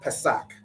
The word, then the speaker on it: Pesach: All right, and the word is Pesach. All right, Pesach, which we all know is the Passover.